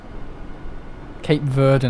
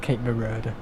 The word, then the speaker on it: Cape Verde: anything oh it's awful I've been to Cape Verona now Cape Verde not Cape Vera he pronounces everything wrong